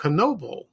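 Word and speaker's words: Knoebels: It's the name of the park, Knoebel. That's how you pronounce it.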